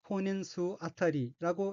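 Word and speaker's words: 婚姻数当たり: 넷째 줄 왼쪽의 어귀는 한자가 한국어로 혼인수이고 각기 혼인할 혼, 혼인인, 셀 수자로 되어 있고 일본어로는 혼인수 아타리라고 읽으며 혼인수 아타리는 혼인수라는 뜻의 혼인수 플러스 뭐뭐당이란 뜻인 접미사 아타리가 이어진 어귀로 혼인수 아타리는 혼인수당이란 의미입니다.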